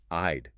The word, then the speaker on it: I'd: Yes, I'd. And the way we pronounce it is just one single sound. We blend the I with a soft D. I'd recommend.